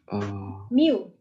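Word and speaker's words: μ: Jika diketahui rata-rata tinggi badan Mu, bacanya mu.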